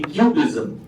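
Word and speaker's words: QBism: up uh which is known as to be cubism it Rhymes well with art movement qism but actually main form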